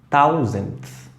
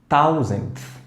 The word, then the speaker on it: thousandth: TH au début du mot se prononce comme thousandth, thousandth, thousandth.